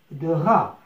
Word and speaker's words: drap: un drap، un drap. لاحظ حرف بي لا ينطق في الآخر.